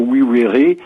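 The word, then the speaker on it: vivere: U étaient absolument le même signe, donc on prononce plutôt oui vere.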